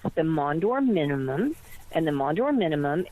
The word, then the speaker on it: Maunder: It's the Mondor minimum, and the Mondor minimum is that the sun's hot spots are cooling off.